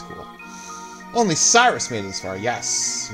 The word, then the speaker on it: Cyrus: When I was a kid, I pronounced it Cirrus, like a Cirrus cloud, which I guess makes sense because square after this named their characters after Weather Phenomenon, but no, his name is not Cirrus.